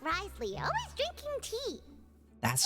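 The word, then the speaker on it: Wriothesley: So much like Risley, always drinking tea.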